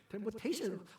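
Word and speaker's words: temptation: 내가 일부 때 뭐 템포테이션 했는데 P가 묵음인데 템포테이션.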